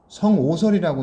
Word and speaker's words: 성오설: 그래서 어떤 사람들은 이 성악설이라고 하면 안 되고 성오설이라고 읽어야 된다고 봐. 악자가 악하다는 거 읽을 때도 있지만 그 한자가 싫어할 오자로도 읽을 수 있거든.